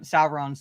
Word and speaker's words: Sauron: it's never been how you pronounce Sauron sauron's name it's Sauron just Sauron it's just because